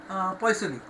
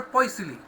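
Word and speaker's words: Poiseuille: So 1 poisily, pronunciation is little different. I am familiar with pronouncing like this.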